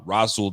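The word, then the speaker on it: Rasul: we got Dane Jackson uh rul Douglas uh rosul Douglas is how he pronounces it obviously we got Benford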